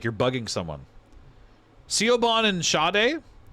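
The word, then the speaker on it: Sade: So, Shade is Nigerian but spelled S A D E.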